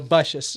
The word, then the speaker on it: Bussius: If for nothing else, so we could put to rest the long debated question of the pronunciation of your last name, which as we know is Bussius. Bussius, yes.